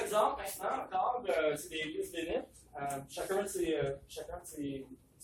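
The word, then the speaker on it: listwaenite: Ça, c'est peut-être le plus classique, lisvenite, L-I-S-T-W-A-E-N-I-T-E. Ça peut s'écrire aussi comme ça se prononce, lisvenite.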